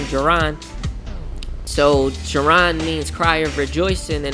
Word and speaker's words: Jaron: So Jaron means cry of rejoicing, and the Hebrew is the Hebrew variant, and it's spelled Y-A-R-O-N, and it's Jaron.